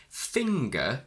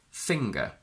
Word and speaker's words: finger: So whilst singer derives from sing plus er, finger doesn't derive from fing plus er. It's just a single standard simple word, finger.